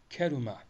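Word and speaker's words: كَرُمَ: Karuma fiilini karuma şeklinde Arapçada biliyorsunuz açık e yoktur. E şeklinde bir telaffuz olmaz. A'ya yakın bir e vardır. O sebeple keruma şeklinde bunu telaffuz edebiliriz.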